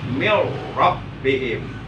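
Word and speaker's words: مِنْ رَبِّهِمْ: Berarti tulisannya min rabbihim tulisannya ya. Tapi bacanya nggak boleh begitu. Bacanya harus mil rabbihim. Ya, nun matinya diidghamkan, dimasukkan ke huruf r.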